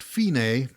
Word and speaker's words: fine: creative am i and the fine pronounced fine is the final ending